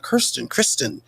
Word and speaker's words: Kirsten: He and his wife, Kirsten, that's the correct pronunciation, I believe.